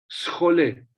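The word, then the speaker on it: σχολή: Schole. Schole. ¿A qué palabra suena schole en inglés? School.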